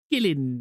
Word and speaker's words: kiln: When I was in ceramics class, I had a Irish teacher, and she used to pronounce kiln as gillin.